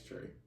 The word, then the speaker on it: Tré: It's gonna be Break the Ice Tray, and the way how you spell tray is TRE, no Y, none of that.